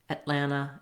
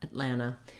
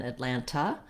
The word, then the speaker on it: Atlanta: often also drop so when words have an nt in the middle native speakers often uh leave that tea out rather than atlanta i might be more likely to say atlanta atlanta so i just move right into the final a which is a schwa sound and sounds like ah so thinking about it